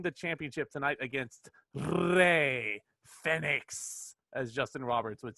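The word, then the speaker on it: Fénix: one that calls him fenix everyone else calls him phoenix is this an inside joke is this a thing justin roberts is the only one pronouncing it correctly as far as i'm concerned and everyone else is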